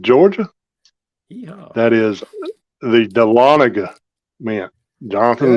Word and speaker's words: Dahlonega: home state of Georgia yeah that is the Dahlonega man Jonathan not delanaga which I have heard it pronounced delanaga but it is actually Dahlonega Georgia which is only about um 40 45